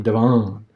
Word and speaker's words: Devon: as people moved in nobody knew what the correct pronunciation was and somehow it just became divine that's strange to me looking at that word d-e-v-o-n I would say Devin yeah I heard people